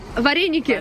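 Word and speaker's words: вареники: we liked pelmeni also there was something that rhymes with the name Veronica Vareniki!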